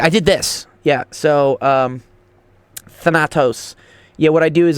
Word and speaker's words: Thanatos: Thantos? No, he said Thanatos.